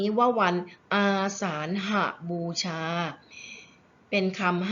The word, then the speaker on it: อาสาฬหบูชา: คะ เรา จะ อ่าน วัน นี้ ว่า วัน อาสาฬหบูชา เป็น คำ 5 พยางค์ นะ คะ ตั้ง ค่า